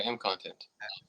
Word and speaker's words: MContent: Is that how you pronounce it? MContent? Yeah, MContent.